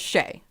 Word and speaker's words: Shée: a normal human name so my nickname is shea and shea is spelled s-h-e-e with an accent over the first e yeah it is shae